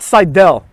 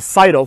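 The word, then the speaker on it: Sydal: was what it was then we have matt seidel uh i don't know why it's pronounced seidel it's obviously citadel but it is what it is [ __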